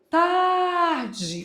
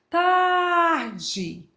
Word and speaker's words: tarde: Tarde. Aquela dica. Pronuncie como se fosse chamando alguém. Tarde.